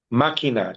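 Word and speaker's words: máquina: Makina. M a Q. U I N A and put a K above the Q and cross out the U. You don't pronounce a U.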